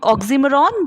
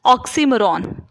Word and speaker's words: oxymoron: It's not oxymoron, but it is correctly pronounced as oxymoron.